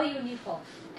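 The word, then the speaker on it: uniform: Because जब हम यू को प्रोनाउंस कर रहे हैं when we will pronounce you there is the sound is य, हिंदी का य, तो वो वॉवल नहीं है, दैट इज नॉट वॉवल.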